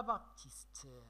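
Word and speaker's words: Baptiste: انا باتيست لو بي ما كتنطقش ياك كتبلع.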